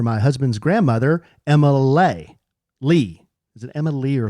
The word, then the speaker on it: Leigh: Lee. Is it Emma Lee or Leigh? L E I G H is Lee.